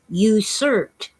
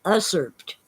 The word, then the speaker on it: usurped: be in your head it's usurped not usurped i asked you as